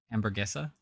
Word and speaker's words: Hamburguesa: I'm just I liked the one that I came up with, La Hamburguesa, wondering. I'm just asking. Because apparently, because that's how you would pronounce it in Spanish. Hamburguesa.